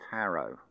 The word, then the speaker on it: Tarot: what is left in Tarot notice it's a silent t on the end as well it comes